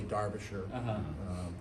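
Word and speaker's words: Derbyshire: I mean, it's spelled Derby Shire, but they say Darbisher, Dia Darbisher.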